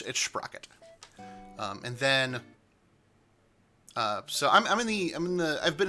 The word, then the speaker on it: Sprocket: Don't pronounce his name any other way. It's Sprocket.